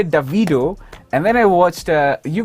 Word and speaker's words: Davido: Speaking of Nigeria and Nigerian men, do you say, a man asked you guys, how do you pronounce his name? Do you say Davido or Davido? Davido.